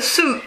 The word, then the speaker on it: suit: Alors, ça se dit a suit. A suit. On ne prononce pas le i.